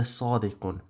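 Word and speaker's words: صادقٌ: In Arabic, in colloquial Arabic, the way people speak nowadays, you probably say inna Muhammad la sadiq. That would be typically how an Arabic speaker would speak. But in terms of Arabic grammar, I'm pronouncing these signs here deliberately so it gives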